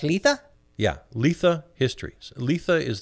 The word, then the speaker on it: Litha: Is that pronounced Litha?